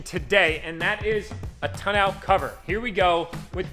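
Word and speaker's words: tonneau: and that is a ton out cover here we go with the confliction of pronunciation how do you pronounce it it is a toenail cover we are changing the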